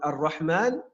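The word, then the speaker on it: الرحمن: Donc, Ar-Rahman, après le mime, on a une prolongation lorsqu'on parle, mais à l'écrit, il n'y a pas de prolongation.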